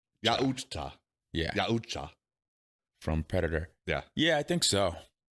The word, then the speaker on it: Yautja: I had to look up what they're called and the correct pronunciation. Yeah. I'll go with the Yahotuja. Really? It's Yautja.